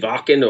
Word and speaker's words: Wacken: I mean, they played Wacken or Wacken, however you want to pronounce it, and Tuska, and a lot of these really big festivals.